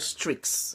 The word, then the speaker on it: Streaks: in Snapchat, and I made sure that I pronounced that properly. I think it's called Strix.